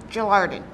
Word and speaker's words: Gelarden: Is that how you pronounce it? Gelarden. Gelarden.